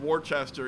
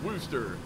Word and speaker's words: Worcester: be there in about an hour I'm passing Worchester he's like Daniel Daniel don't and don't call it Worchester that's just so wrong you will yeah you'll get called out as a foreigner immediately it's pronounced rooster so yeah that's when I don't know Blanca's